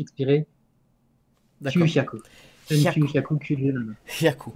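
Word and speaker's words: 九百: Parce qu'en fait, on interprète le H comme un H muet en français, mais en fait, c'est pas du tout. la même syllabe. Donc c'est très important de dire kyu-hyaku.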